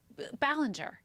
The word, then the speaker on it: Ballinger: Colleen Ballinger.